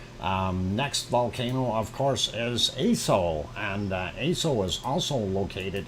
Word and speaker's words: Aso: Next volcano, of course, is Aso, and Aso is also located in Japan, and of course Aso is also referred to as Aso-san.